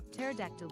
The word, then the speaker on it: pterodactyl: Why can't you hear a pterodactyl go to the bathroom? The P is silent.